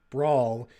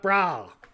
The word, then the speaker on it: brawl: he says backlot brawl, instead of pronouncing it like brawl, he says, "We're watching the backlot brawl," and doesn't say the L at the end of it.